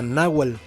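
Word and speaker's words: Nawatl: Yo tengo entendido que la TL en el idioma este nawat no se pronuncia, o sea, sería Nawal como Sochil, como ay, no se me ocurre otro ejemplo, pero bueno.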